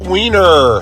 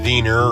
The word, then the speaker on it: Wiener: And besides, his name is probably pronounced Wiener or Weiner. Professor Weiner!